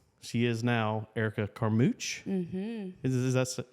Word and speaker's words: Carmouche: So closer to the border of Texas and Louisiana, it's Carmouche. Carmouche. Like a big fat douche.